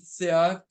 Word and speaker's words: Scheat: hang around a really malevolent fixed star named Seat. Let me spell that out for you.